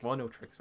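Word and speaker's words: Oneohtrix: Oniotrix Point Never with, again, I can never pronounce the first word. It's Oneotrix, I think. Oneotrix, okay.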